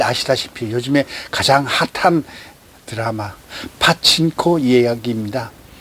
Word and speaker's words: 파친코: 오늘 이야기하고자 하는 것은 여러분께 잘 아시다시피 요즘에 가장 핫한 드라마 파친코 이야기입니다. 일본말로 빠찡꼬라 그러죠. 빠찡꼬. 그냥 빠찡꼬가 발음이 편한데 파친코. 어쨌든 원어대로 따라가야 되겠죠.